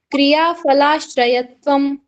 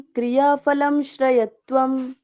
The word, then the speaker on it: क्रियाफलाश्रयत्वम्: सत्य प्रतिष्ठायां क्रियाफलाश्रयत्वम्। सत्य प्रतिष्ठायां क्रियाफलाश्रयत्वम्। सत्य प्रतिष्ठायां क्रियाफलं श्रयत्वम्। फलम नहीं है, फलम माँ कहाँ का उच्चारण है, माँ कहीं पे भी नहीं है।